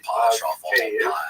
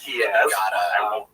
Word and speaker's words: Kyiv: That's the Ukrainian pronunciation, by the way. That's favored today because, of course, Ukrainian is the dominant language in the country. But it used to be called in English Kiev, which is closer to the Russian pronunciation because Russia dominated much